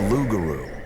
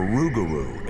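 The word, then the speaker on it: rougarou: or even a bird the lugaru or rugaru as the local Cajun pronounce it is not a peaceful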